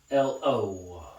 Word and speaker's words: Chikatilo: Andre Chikatilo. Yep, that's how it's pronounced. Chikatilo.